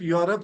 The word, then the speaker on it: Europe: The pronunciation of Europe starts with Yo.